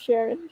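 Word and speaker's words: Cherin: Sharin Sharon okay so it's spelled c-h-e-r-i-n and I think it's so pretty like it could be pronounced Sharon sure where you could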